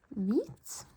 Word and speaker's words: hvit: It's the same in Norwegian, just that it's a V, and the H and V have switched places. So if an H is before a V, the H is never pronounced, so you can just ignore it.